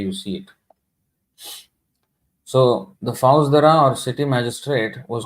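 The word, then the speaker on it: Faujdar: Now here you will see some words: jamidaras, Bhaujadara. Actually, this is not how it is pronounced. The Fauzdara or city magistrate was called the, here it says Kaji.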